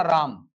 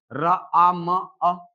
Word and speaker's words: राम: लेकिन अगर मुझे उच्चारण करना हुआ राम, तो क्या मैं इसको ऐसा करूंगा क्या? र आ म अ? नहीं, मैं सीधे बोलूंगा रा और बोलूंगा म।